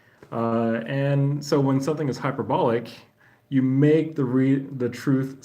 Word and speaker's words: hyperbolic: So the intonation is over the O with like a short O sound, hyperbolic.